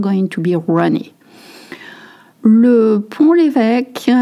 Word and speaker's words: Pont-l'Évêque: Le Pont-l'Évêque, not Pont, okay, le Pont-l'Évêque, that's the way we pronounce it. Pont-l'Évêque, it's actually a city and I grew up not too far from it.